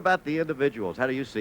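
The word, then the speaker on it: Ballesteros: starting with beef or solisteros or buy a stairs if you prefer the Spanish pronunciation the a means amateur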